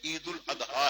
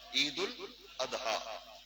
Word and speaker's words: عید الاضحیٰ: بھی ہے۔ عید الاضحیٰ، یہ اس کا اصل پروننسیشن تلفظ جو ہے عید الاضحیٰ ہے، عید الاضحیٰ، اور اسے عید قربان